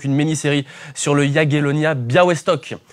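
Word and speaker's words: Białystok: On l'a dit donc une miniérie sur le Yagelonia Biawestock. Ça s'écrit Bialistock mais ça se prononce Biawestock.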